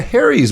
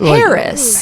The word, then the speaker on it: Herries: ask you something so your last name is pronounced Harry's right yes that's 100% correct do people ever mispronounce it they do well how do they say it Harris Harris because that would